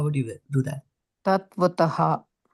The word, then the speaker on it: तत्त्वतः: Tat vatataha. There's a double T, right?